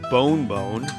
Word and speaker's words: Bon Bon: I was able to stay awake for my Bon Bon, pronounced bone bone, one of the great ice cream desserts in South America.